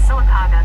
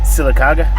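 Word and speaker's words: Sylacauga: At Redneck Crow 8,465 said that town that you was trying to pronounce the other day in Talladega County is Silicaga.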